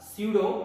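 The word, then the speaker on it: pseudo: पीएस मतलब स्यूडो, P silent यहाँ पे, मतलब स्यूडो नाम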